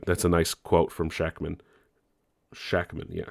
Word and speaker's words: Shakman: fun that's a that's a nice quote from shakman shackman yeah shackman that's how you say it uh they were